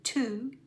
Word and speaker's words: to: The unusual pronunciation of O at the end of the word is in to, do, who. It's very unusual to say oo with one O.